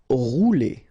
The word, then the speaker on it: rouler: Rouler. Okay, remember when you get this O and U together, you get the sound OU. Okay, rouler. Posséder.